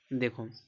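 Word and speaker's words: though: देखो यहां टी एच ओ यू जी एच इसको क्या पढ़ेंगे इसको दो पढ़ेंगे इसको दो पढ़ेंगे दो यहां पे ओ यू का उच्चारण देखो ओ निकल रहा है दो इसको देखो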